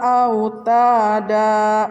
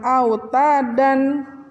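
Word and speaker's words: أوتادا: war at berikutnya tujuhnya walji balla autada bukan outta dan tapi out ada autada adalah contoh mad iwad ke-8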